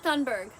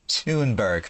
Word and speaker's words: Thunberg: mistress of misinformation herself greta thundberg okay only two words in and she's already wrong her last name is pronounced toonberg miss katie tunber why